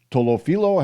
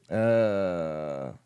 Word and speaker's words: Tolopilo: Tolofilo? Hang on a second. Let me see here. What's his name? Tolopilo. I was close.